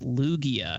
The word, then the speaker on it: Lugia: It's pronounced Lugia, and that is definitely a Pokemon.